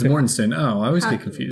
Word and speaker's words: Mortensen: Mortenstein. Is that how you say it? Oh, yeah, that is right. I was just pronouncing the way it was spelled. It's Mornstein, right? No, it's Mornstein.